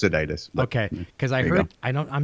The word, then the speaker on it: Sadites: So, okay, so Jason Sadites, there we go.